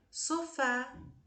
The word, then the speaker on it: sofá: Preciso trocar meu sofá sofá última sílaba é a tônica terminada em a também será acentuada por ser uma ok em toda terminada